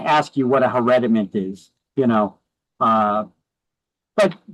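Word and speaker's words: hereditament: That's how you pronounce that word. Hereditment. No, it's herediment. Okay, I know the these are new words. We never heard them before, but it kind of sounds like inherit, right?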